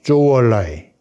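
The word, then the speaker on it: 周恩来: 국무원 총리를 오래 한 주을레, 중국 발음으로는 마오쩌둥과 조우얼라이.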